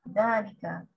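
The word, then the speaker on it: ذلك: Note, number one, dalika is pronounced dalika, but it is written without the alif.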